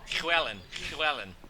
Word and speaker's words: Llewellyn: in a post-heat interview, he told me I need to kind of say it from the back of my mouth, and it's Llewellyn Williams is how they actually pronounce it.